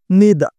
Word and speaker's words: neither: ঠিক একইভাবে এই নেইদার কথাটিকে আমেরিকানরা উচ্চারণ করেছে নিদা, নিদা, নিদা, নিদা এবং ব্রিটিশরা উচ্চারণ করেছে নাইদা, নাইদা, নাইদা, নাইদা।